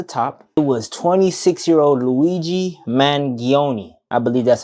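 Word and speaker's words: Luigi Mangione: anybody at the top it was 26y old Luigi mangion I believe that's how you say his name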